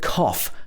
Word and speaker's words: cough: british pronunciation off so this is a f at the end just like f for fish for example cough excuse me i need